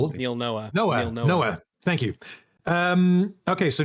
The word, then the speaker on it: Noah: I think he said that if the show where did I get his name wrong? The Neil Noah Neil Neil Noah Noah thank you.